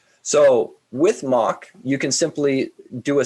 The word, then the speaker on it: Moq: So for my examples, I'm using a library called Moq, or Moq, M-O-Q, depending on your pronunciation of it.